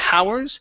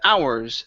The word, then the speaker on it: hours: your last one here the H is silent so instead of saying the hours it's going to be the hours the hours would be